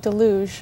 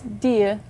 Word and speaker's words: Dige: it's D G now Canadians would pronounce that as D yeah I've also heard delou I don't know where the L came in but someone said delou but actually how is it pronounced yeah it's Dia Dia yeah okay now you